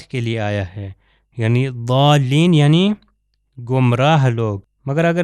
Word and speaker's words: ضالین: ہے، یہ ضاد کے لیے آیا ہے، یعنی ضالین یعنی گمراہ لوگ۔ مگر اگر اس کو مثال کے طور پر ضوئیں سے تلفظ کرے ضالین تو اس کا مطلب دوسرا